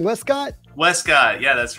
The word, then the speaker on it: Wescott: how do you say your last name Wescott Westcott yeah that's right Westcott Director of Business